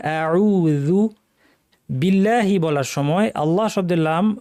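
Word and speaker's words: بالله: করা যাবে না আউজু বিল্লাহি বলার সময় আল্লাহ শব্দের লাম ভারী হয় কিন্তু যদি আগে জের থাকে যেমন এখানে বা জের বি আছে তাহলে পাতলা হবে বিল্লাহি বলতে হবে বিল্লাহি নয় মিনাশনকে জিহ্বার মাঝখান থেকে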